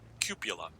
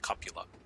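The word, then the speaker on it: cupola: but it might hit the cuppola which people mispronounce cupula it's pronounced copula and there's no other pronunciation so don't check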